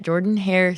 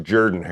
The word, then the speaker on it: Jordan-Hare: is traveling to Auburn they are playing at Jordan hair Stadium on ESPN at 6:30 p.m. Texas A&M is favored by two and a half points it's actually pronounced Jordan her I know I know spell I'll go I'm